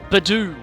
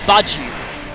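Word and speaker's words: Budew: well, not canonically, but at least the PBR announcer calls it Badoo. But I say Budgew, because, we pronounce Dew, D-E-W, as Dew in Australia and not Do.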